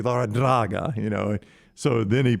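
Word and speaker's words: Larrañaga: saying actually you know my name's been mispronounced for 60 some odd years it's actually lara draga you know so then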